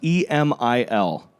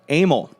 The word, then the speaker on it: Emil: How would you pronounce this? E M I L. Emil. Yeah, I would love that. Amal.